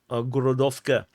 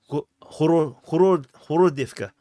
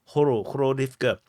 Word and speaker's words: Horodivka: And also interesting about the Ukrainians is that Ukrainian language is that in Russian this Gorodovka. In Ukrainian, it's literally really pronounced as H. It's not pronounced as G. It's Horodivka. Horodivka.